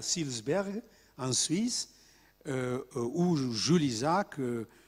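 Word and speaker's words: Seelisberg: propositions qui sont devenues les 10 points de Silsberg, il faut prononcer.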